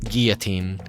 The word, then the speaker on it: guillotine: The guillotine, and makes a Y sound, by the way, like guillotine.